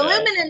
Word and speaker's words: aluminum: aluminium sorry no no aluminum is the American pronunciation aluminium is the British pronunciation I I like that